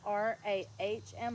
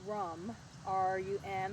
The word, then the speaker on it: RAM: The sound, the vibration sound is RAM, and I have heard that pronounced like RAHM, like ROM, or I've also heard it pronounced RUM, RUM.